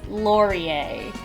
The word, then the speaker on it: Laurier: It's Laurier is how you say this guy's name.